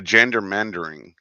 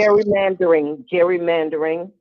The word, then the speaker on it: gerrymandering: The gendermandering, Mm-hmm. if I'm saying it right. Yeah. That's happening here in Texas. Gerrymandering. Gerrymandering. Thank you.